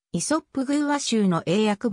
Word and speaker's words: イソップ: も用いられた愛想ポーズの英語表記良いサーブをイソップと発音するようになったのは本省の題名によるものである本書の挿絵を